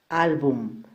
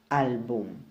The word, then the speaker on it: álbum: Álbum tiene 2 sílabas. La mayor fuerza de voz está en la penúltima sílaba. Y como no termina en N, S o vocal, entonces esta palabra sí debe ir tildada en esta sílaba.